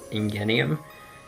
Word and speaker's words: Ingenium: I have a feeling if in the dub it's pronounced in genial but in the Japanese it's pronounced Ingenium so EDA he's about to